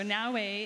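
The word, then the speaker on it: Naoe: so two protagonists this time out is it na am I pronouncing that correctly y now and Yas very different characters what can you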